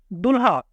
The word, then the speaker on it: دلہا: اسی طرح نیچے دیکھیں دلہا، لام کی آواز کو بھاری بنایا گیا ہے.